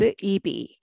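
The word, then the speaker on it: 입이: However, more natural way is EB, EB, okay?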